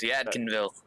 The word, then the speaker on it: Yadkinville: He said Yad, then like dash Kin Dashville. So he's trying to, English class, pronounce it out for us. Yadkinville.